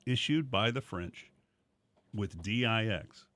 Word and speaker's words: dix: by the French with D-I-X, which is de, or whatever, however you say it. I learned French in 6th grade. It's pronounced Dix.